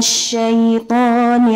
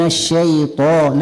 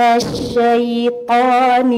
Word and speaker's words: الشيطان: والثاني عندما ننطق الطاء لا نقول هكذا من الشيطان، لا نضم الشفتين، لأن هنا ضم الشفتين معنى قراءة الفتحة بصوت الضمة.